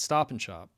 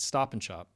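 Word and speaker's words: Stop & Shop: at Stop and Shop, if you listen to how people say that, stop and shop, they don't say stop and shop, even though that's the name of the store, the the A vowel in and is reduced and the D typically disappears altogether as well and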